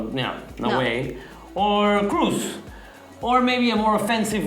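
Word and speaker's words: Kroos: I think he would obviously take Cruz's Cruz's spot because people are saying I it's not Cross, it's Cruz.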